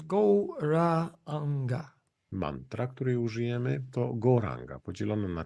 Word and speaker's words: Gauranga: The mantra is Gauranga, divided into 4 syllables, Gauranga. Mantra, której użyjemy, to Gauranga, podzielone na 4 sylaby.